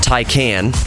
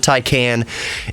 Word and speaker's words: Taycan: up against uh Tesla's Model S the Porsche tyan right is that how you is that how you pronounce it tan Ta A T A YC